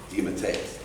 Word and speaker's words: DeMatteis: of names that I haven't been able to pronounce at all in about 30 years. It's a great fear. I think it is DeMatteis.